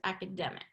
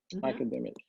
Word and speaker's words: academic: learn academic academic yeah third syllable stress academic academic okay and uh since